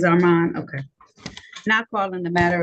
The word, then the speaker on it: Arman: you're welcome Arman how you pronounce your first name Mr you said it right Arman it is Arman okay now calling the